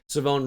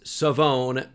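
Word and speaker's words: Shavon: I know it doesn't look like it'd be pronounced that way, but I am 99% sure it is Savone Revel Jr.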